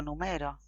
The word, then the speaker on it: numero: Por ejemplo, acá tenemos tres palabras. El número, lo numero, lo numeró. Entonces tenemos el sustantivo, número, el verbo en presente, numero, y el verbo en pasado, numeró. Son exactamente los mismos segmentos,